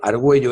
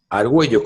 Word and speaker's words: Argüello: es el mismo peligro pero se pronuncia diferente no no no no no se debería de pronunciar lingüísticamente arguello no pero no se hace porque porque se incide en la u directamente entonces pequeño a un